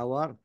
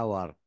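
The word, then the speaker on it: hour: اذا بدا بحرف عله ولاحظ ان هنا نقول انور رمها اور بدات بالاتش ولكن على النطق مشينا اور ما نقول هقول ا اذا هنا معنى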